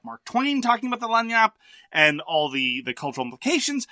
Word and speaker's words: lagniappe: they call that rule the lagniappe, which apparently that's how it's pronounced, which is a big cultural thing in New Orleans and other parts of the South.